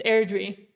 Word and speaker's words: Airdrie: Thank you to everybody that did correct me on how to say the place of that name. It's Airdrie. Thank you. Well, because it's written different.